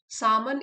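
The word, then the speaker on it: salmon: सामन। इसमें L silent है।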